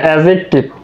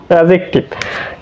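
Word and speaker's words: adjective: এখানে কিন্তু অ্যাডজেক্টিভ না, ডি কিন্তু এখানে উচ্চারিত হবে না, অ্যাডজেক্টিভ, অ্যাডজেক্টিভ।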